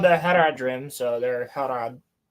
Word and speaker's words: Harad: Harad. You said it correctly. Harod. Okay. The They're They're called the Haradrim. So, they're Harad.